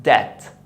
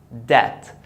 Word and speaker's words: debt: When you have the B before the T, don't pronounce it, as in debt. Debt.